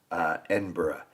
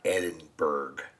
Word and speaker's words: Edinburgh: Like I remember when I first understood, for instance, Edinburgh, not Edinburgh, the berg is actually bruh, and a lot of